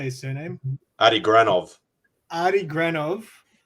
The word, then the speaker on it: Granov: Adi Granov.